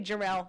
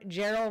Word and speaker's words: Gerald: Gerald rhymes with Barl. Say his name. I know half the people say Jerel it. But then you know how I remember Gerald rhymes with barrel.